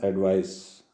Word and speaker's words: advice: एक होता है एडवाइस, ADVICE, प्रोनाउंसिएशन एडवाइस।